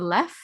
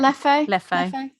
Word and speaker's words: Leffe: All they had was the Lef. That was the blonde. Is that how you say it? Leffe. I just assumed the second E was silent. Not apparently.